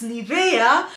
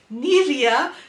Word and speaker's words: Nivea: please excuse me Nivea it is a German company and in Germany it is pronounced as Nivea and this is what I am saying every day Nivea not neria so sometimes I forget